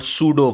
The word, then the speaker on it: pseudo: इट is called सूडो force, P silent air.